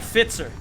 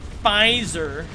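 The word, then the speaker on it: Pfizer: vaccine did you get i got fitzer or as the americans say fizer i can be your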